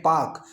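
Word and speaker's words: Palk: ये एक अंग्रेज विद्वान थे, PAL के पाक, इसमें एल इनके साइलेंट रहता है।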